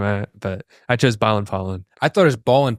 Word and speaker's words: Palen: You spell it out for him? Ballin. Pollen, Palen. Yeah. For my last name. Because everyone thinks it's Palen, or at least I did.